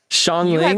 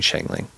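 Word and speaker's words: Xiangling: Shanling. I've been I've been saying it wrong. I've been saying it wrong. I've been saying Shangling.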